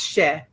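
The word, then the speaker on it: cher: So the first word is c h e r she and it is just a term of endearment just means sweetie or dear heart or my darling one. It's she somebody some people say she rhymes with chair.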